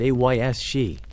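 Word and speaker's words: Aos Sí: A mainstream historical fact is that the belief in fairies, or the Aus Sidhi, pronounced Ays-she, was incredibly widespread.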